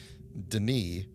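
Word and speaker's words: D'ni: they said well like humans pronounce it Deni to distinguish and also because they don't pronounce uh foreign culture words correctly I assume but um I think most people have taken to just calling it Deni as the modern pronunciation but I'm calling I'm still pronouncing it dny because that's the way they they pronounce it anyway if Katherine did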